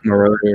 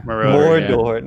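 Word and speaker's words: Moroder: Marauder, yeah. Mordor. It's not the freaking Middle Earth, okay? No, Marauder, yeah. It's like three syllables.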